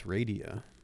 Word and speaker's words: Radia: I've been mispronouncing it for years. I called her Radia Perlman, but it's Radia.